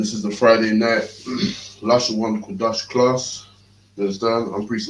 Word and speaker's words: Lashawan Qadash: And this is the Friday night Lashawan Qadash class.